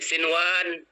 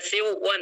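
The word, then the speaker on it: صنوان: Sinwan tidak boleh dibaca siwan tapi tetap sinwan.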